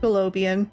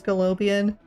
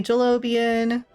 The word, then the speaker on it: Galobian: And it's pronounced Galobian. We don't really care how you pronounce it. It's just the proper pronunciation is Galobian. But you can call me Jalobian, Jalobian, whatever you feel like.